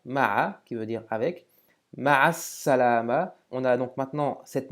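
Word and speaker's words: مع السلامة: qui veut dire avec, ma'as salama, on a donc maintenant cette nouvelle règle qui nous dit que devant certaines lettres, le lam de l'article n'est plus prononcé, mais en plus on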